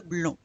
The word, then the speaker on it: blonds: We don't pronounce the D or S. Les cheveux blonds.